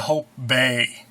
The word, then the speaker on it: Hobé: Here's a brooch and earring set by Hobé, And see, it's got a little willy at the end of the E there. That's what makes it Hobé, not Hobie.